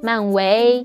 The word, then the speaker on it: 漫威: In mainland China, Marvel is translated as 漫威, the first tone, the flat tone, but he pronounced it as 非常非常感谢漫威,漫威, which is the second tone, the rising tone.